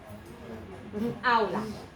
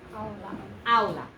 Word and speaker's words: aula: Here's my first one with the ow. Aula. Aula. Okay?